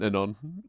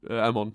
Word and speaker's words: Amon: I'm just saying, I'm a little disappointed in Anon. Amon, sorry. You've got me calling him Anon instead of Amon, and it's driving me crazy.